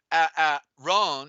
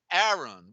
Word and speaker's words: Aaron: aaron has two a's it's not pronounced ah rhon it's aaron one a is silent you see and so